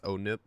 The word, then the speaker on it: ONIP: Now, this is not actually Halo ONIP, it's pronounced Halo ONIP, like oh no, our table, but Broken. it's ONIP.